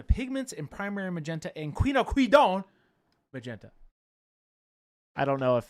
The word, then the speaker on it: quinacridone: Is that Is that how it's pronounced? Quinacridone. Oh, it's quinacridone.